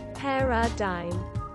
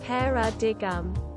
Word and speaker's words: paradigm: a co-worker shared this with me paradigm is pronounced perradine it is definitely not pronounced pera di gum i learned this at age 19 in college